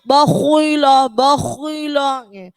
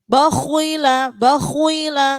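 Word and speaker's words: بَخِلَ: Jadi jangan bacanya bakhila. Khok kan huruf tebal Ustazah. Bakhila, nggak boleh gitu. Jadi ketika huruf tebal, kalau dia harokatnya kasroh, ketebalannya berkurang. Cukup bakhila, tetap tebal tapi dia berkurang.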